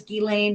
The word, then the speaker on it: Ghislaine: Her name is Ghislaine Maxwell. That's how you say it.